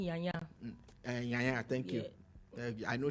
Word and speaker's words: Nyanya: In Abuja, Inyanya to be precise. Not Inyanya the singer, but Inyanya in Abuja. No, it's actually pronounced Nyanya.